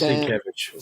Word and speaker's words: Sienkiewicz: You mispronunciate Nate. It is Sienkiewicz.